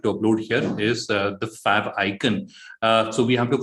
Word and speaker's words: favicon: if pronounced uh properly a lot of people pronounce it as a favicon but it is fab icon so uh logo is very simple and straightforward